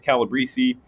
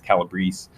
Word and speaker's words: Calabrese: All right, the next chapter is, oh, by the way, Calabrese, I've been mispronouncing as Calabrese. I just found out recently it's Calabrese. So I'm going to take that accent off if that comes up again, but I apologize about the mispronunciation.